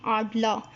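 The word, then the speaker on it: Adler: तो सबसे पहले देखें आडला, आडला, इसमें भी आर को जो है वो हम लोग साइलेंट कर लें, आडला।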